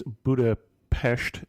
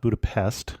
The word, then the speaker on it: Budapest: the PES side and we should say it's Buddha PES not Buddha Pest and that's probably the